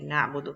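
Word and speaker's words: نعبد: it's very interesting because I can say and then I do we worship you or Nabu dukkha we worship you which will be the correct way to say na budu that we worship you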